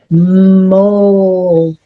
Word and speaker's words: mold: So, this O should say ah, but it doesn't. It says o and this word says mold.